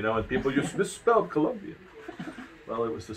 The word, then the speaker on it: Colombia: l-a-s-o-s colombia we owe not columbia but colombia yeah yeah that's the